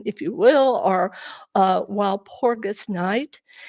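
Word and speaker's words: Walpurgisnacht: you will, or uh while Porgus knight, it's and they call it while porgusnut. It's it's a different different pronunciation obviously, but they believe the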